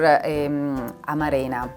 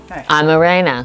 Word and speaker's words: amarena: I found much more amarena. How do you say? Amarena. Amarena. Yes. Change the accent. I think it's Amarena.